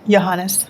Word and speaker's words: Johannes: Winta, how did you pronounce her last name? Johannes.